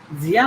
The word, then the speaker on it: Sie: जिया नहीं है वो, जी जी है, ये भी जी है, ये भी जी है, Sie.